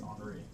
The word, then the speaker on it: Henri: Yeah, it's French, so It's not Henry, it's Henri. Francois RD.